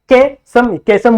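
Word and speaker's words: caecum: इसे हम लोग क्या बोलते हैं, दैट इज कैसम बोल सकते हो, कैशियम बोल सकते हो, जैसा आपको प्रोनाउंस करने। देखो मैं कैशियम प्रोनाउंस करता हूं जिससे मुझे स्पेलिंग याद हो जाती है, CAE CM CUM।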